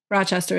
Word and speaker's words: Rochester: Rochester is correct.